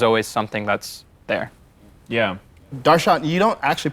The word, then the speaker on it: Darshan: But technically, the correct way to pronounce my name is actually Darshan. There's like a, yeah, like that's just the correct way to pronounce it.